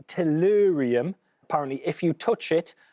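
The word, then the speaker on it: thorium: very well done indeed PA brilliant work um pronounced torium apparently if you touch it or ingest it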